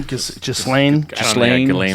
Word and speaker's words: Ghislaine: It has an S in it, but I've heard it pronounced with the S or without. So Ghislaine or Ghislaine.